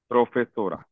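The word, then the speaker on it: profesora: उसके बाद आपको इसको ऐसे लिखना है प्रो पे पे तो सो राके और उसके बाद आपने क्योंकि इस पे स्ट्रेस है तो इसको आपने अंडरलाइन कर देना है यस सर अंडरस्टुड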